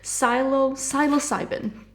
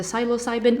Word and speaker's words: Psilocybin: So what I'm gonna do, I also have from the, oh my god, how will you pronounce this one? Hold it. Psilocybin.